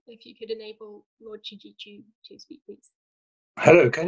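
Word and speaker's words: Chidgey: So just looking through the list, I'll start with Lord David Chiji here and then go on down the list. So Africa Programme, if you could enable Lord Chiji to speak, please.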